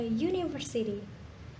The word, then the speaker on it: university: Example, a school, a plane, and a university. Kenapa di sini university menggunakan a? Karena pengucapan university tidak diawali dengan huruf vokal.